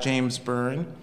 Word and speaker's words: James Byrne: Immediately to Zeyar, Lynn's left is James Byrne.